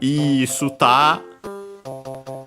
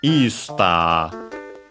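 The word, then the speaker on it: イースター: And so yeah, Easter, accent on the e, just like in English.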